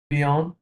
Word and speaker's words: bien: bi- এই ৪ টা letter bi- উচ্চারণ কি হবে? bien, বিয়া, হ্যাঁ ওকে।